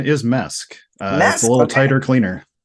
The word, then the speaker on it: MESC: it like mesc or do do you say mask our preferred pronunciation is mesque uh a little tighter cleaner yeah it's good